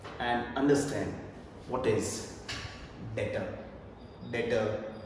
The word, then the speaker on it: debtor: डेटर जिसमें B silent है।